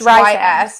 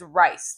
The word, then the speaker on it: Rhys: It's Rhys is rice to me.